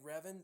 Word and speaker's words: Revan: you say his name Revan I think is how you pronounce it Darth Revan I I